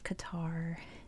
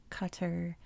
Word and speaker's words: Qatar: I saw a video where a guy explained that every sound in the name does not exist in English.